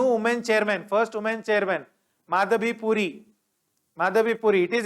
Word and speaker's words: Madhavi: chairman of sabi right please remember the name it is not madavi it is madhabi so